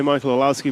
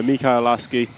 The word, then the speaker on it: Mika Orlowski: Funny when we say Michael Orlowski, but as far as I know, it's Mika. Yeah, I butcher everybody's name, so apologies. But yeah, Mika Orlowski is his correct pronunciation, I believe.